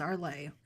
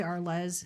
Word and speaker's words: Arles: Yeah, it's arlay. Some people say arless or less in uh English. It is arlay in French, which is where it is.